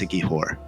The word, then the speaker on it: Siquijor: It's Siquijor. It's pronounced Siquijor, and so it's known as like Black Magic